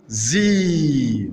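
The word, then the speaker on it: Sie: Le S succédé d'une voyelle comme haz, la haz, la femelle du lièvre, haz, ou bien zi, vous, la forme de politesse, zi, qui s'écrit bien sûr en S majuscule.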